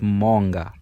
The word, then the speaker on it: Moonga: one more time I think you said it's Monga if I'm not mistaken yeah you know what